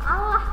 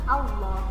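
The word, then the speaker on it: الله: Nah, ketika baca Allah bukan Allah bacanya ya, tapi pas waktu masuk ke lamnya itu diganti menjadi loh ya, seperti itu bacanya Allah. Sehingga di sini ada keterangan tafkhim. Tafkhim itu artinya tebel, jadi seolah-olah mulut kita tebel ya.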